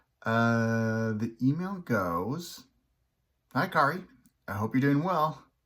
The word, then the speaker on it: Kaare: hey this is kari rhymes with atari andrews um i got